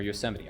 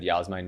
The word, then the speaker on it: Yosemite: And I got an excuse that I said Yahsemite, not Yosemite I'm Canadian.